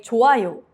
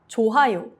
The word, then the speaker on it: 좋아요: Even though it's spelled with 히읗 받침, you say 좋아요, not 좋아요, with a strong H.